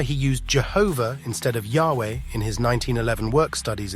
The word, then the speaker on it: Yahweh: He said, "Modern grammarians argue that it ought to be read Yahweh or Yahweh, but Jehovah seems firmly rooted in